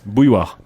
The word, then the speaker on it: bouilloire: Bouilloire. Bouilloire. Bouilloire. Sounds like the start of a fight. Bouilloire. Bouilloire.